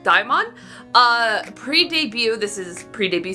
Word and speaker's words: DXMON: be checking out I it's pronounced Dion uh pre-debut this is